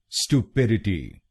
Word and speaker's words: stupidity: तो American English में हम पहले शब्दांश को बोलेंगे स्टू, स्टू। बाकी 3 शब्दांशों को हम ब्रिटिश इंग्लिश की तरह ही बोलेंगे। स्टूपिडिटी, स्टूपिडिटी।